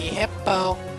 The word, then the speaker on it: Hippopotas: Why can't people pronounce it right? It's supposed to be Hippopotas, like that, but you know, it's kind of tricky.